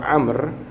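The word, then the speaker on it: عمرو: untuk membedakan cara bacanya kalau Amr itu belakangnya ada wawunya tulisannya tapi wawunya ya tidak berbunyi sampan lihat tulisan Amr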